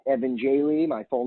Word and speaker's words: Jehle: reach out to me on Twitter it's Evan Jay Lee my full name so how do you spell